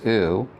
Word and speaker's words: ου: So remember this and then epsilon plus omicron is u.